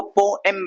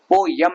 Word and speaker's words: poem: ई पे जोर दे के एम को तेजी से खींच दो, पोएम, पोम, पोएम, ठीक है, पोयम नहीं, एम.